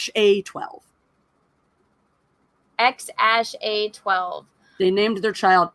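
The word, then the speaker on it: X Æ A-12: Joe Rogan experienced podcasters of the name is pronounced X - a 12 X a sh a 12 they named their child X a 12 and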